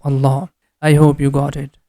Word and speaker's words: Allah: When the previous letter has Fatha or Dhamma, in both cases we pronounce letter Lam with heavy sound, and always we have to stretch this La sound for 2 count in the name of Allah.